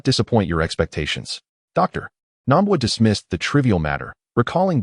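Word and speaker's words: Namba: It's Nambwa. Hearing her mispronunciation, Dr.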